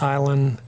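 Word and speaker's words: Aislyn: And the avatar for Staten Island sort of embodies that and that this is island hulahan and that's island as the Celtic name.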